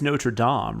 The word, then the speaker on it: Notre Dame: Aaron earlier, it is Notre Dame, right? Like that's that is the correct pronunciation. That is the correct French pronunciation. Yes. But the university and the football team, everybody just calls them Notre Dame.